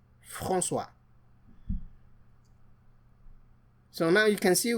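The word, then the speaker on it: François: Frana. F A N C O E S Frana.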